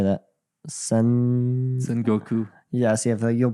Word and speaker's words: Sengoku: Sengoku. Yes, you'll pronounce these words better than I Okay, will.